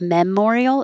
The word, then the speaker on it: Memorial: Because we don't stress the first syllable. So instead of memorial, it's Memorial Day.